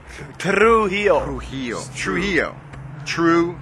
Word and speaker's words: Trujillo: the Met Club exclusive the real pronunciation of his last name - he'll hold on you can do it allele yeah you got Trujillo you get it roll those ours pero he oh who